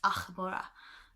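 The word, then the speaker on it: Ah'mora: It was supposed to be an AH''MORA, because she was a blood elf, and it was supposed to be pronounced Achmora, because a lot of theirs had apostrophes in it.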